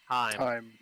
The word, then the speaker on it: thyme: You know, not until I played with you guys did I know it's actually pronounced time.